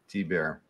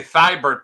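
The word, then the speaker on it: Thibert: thebert T bear thanks T bear is that how you say it that is how you say it that's how you say it yeah for years I used to just say thybert but I found out it's tiar tber I saying like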